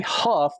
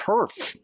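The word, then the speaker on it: Hurff: I was going to say Huff, but that's my dyslexia screaming me. It's Herf. Isn't that Herf?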